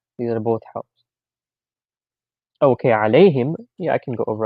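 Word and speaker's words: عليهم: We don't say alahim, we say alayhim. Alayhim. Because alahim sounds a little bit weird, so they changed that to make it easy.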